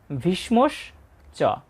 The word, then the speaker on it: ভীষ্মশ্চ: এখানে যেহেতু মূর্ধন্য স এবং ম রয়েছে তাই সটা অর্ধেক উচ্চারিত হবে।